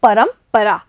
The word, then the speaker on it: परंपरा: देखिए बच्चों यहाँ पर जो रे की बिंदु है यानी रे के ऊपर जो बिंदु लगी हुई है उसका उच्चारण होता है आधा म, तो इसे बोलेंगे हम परंपरा।